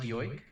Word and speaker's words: joik: It's kind of pronounced a bit like yoik, but it's spelled j o i k.